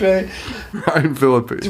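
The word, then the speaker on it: Ryan Phillippe: Ryan Philippe.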